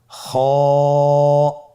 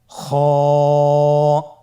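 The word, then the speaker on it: خ: খ হরফটির মাখরাজ হলো কন্ঠনালীর শেষ ভাগ হতে উচ্চারণ করতে হয়। কন্ঠনালীর শেষ ভাগ। আপনারা আমার সাথে বলুন খ আবার বলুন খ মাশআল্লাহ।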